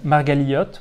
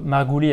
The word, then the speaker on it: Margaliot: très érudi qui s'appelle rouven margaliot ou alors en fait il habitait en Europe de l'Est on disait plutôt margouies à l'époque enfin dans la prononciation hashkenase typique en tout cas de cette région